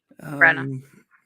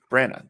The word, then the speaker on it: Branagh: Brenna. Branagh.